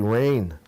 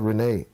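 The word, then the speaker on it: Rayne: sorry oh sorry yes that looks like rain not Renee r a y n e One e all right so it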